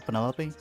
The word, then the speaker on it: Penelope: Is that short for Penelopey? Officially, yes, but I never can be bothered with all four syllables of it.